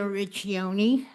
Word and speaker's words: Richani: Um, the proper pronunciation of my name is Richion.